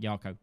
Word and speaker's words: Jako: division attack plus 10% jako is still not pronounced with a J Sound by the way it's more like yako damn it I forget